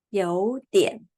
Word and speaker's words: 有一点儿: And this adverb is 有一点儿. And in Taiwan, we always omit a sound and we just pronounce 有一点, or we omit e. We can also speak 有点.